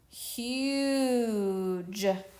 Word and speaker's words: huge: Okay, bossy E makes the U say its name, so it says ooh, ooh, ooh. Or you. Huge.